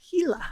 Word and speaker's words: Gila: And Gila.